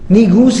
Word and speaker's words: Negus: Negus is the most appropriate pronunciation of it.